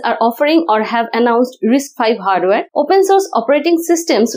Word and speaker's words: RISC-V: risc-5 is pronounced as risk 5.